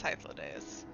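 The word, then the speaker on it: Hythlodaeus: so it doesn't sound right but isn't it hyphlodeus anyways I don't think it's Hitler it is I think it's high flow days that's how I pronounce it if I pronounced it fully it's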